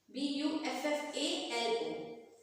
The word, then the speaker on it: buffalo: Most of B-U-F-F-A-L-O. B-U-F-F-A-L-O. Most of you might be saying buffalo. But the word, the correct pronunciation is buffalo.